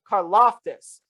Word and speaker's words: Karlaftis: wasn't heard from a lot last year george carloftus that is how you say that last name